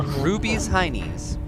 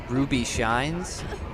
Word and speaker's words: Ruby's Heinies: Ruby's Heinies. People usually pronounce it as Ruby Shines, or just as Rubies, but I know what they're doing. if the company calls it Rubies, then the name of the company is Rubies Heinies, not Ruby Shines.